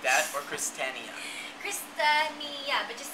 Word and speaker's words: Kristinia: it wrong so Okay the reason why you're saying it wrong I understand it's because the fonetic spelling on my website is wrong okay it says Christinia it's not Christinia what is it it's christania christania christania christania like that or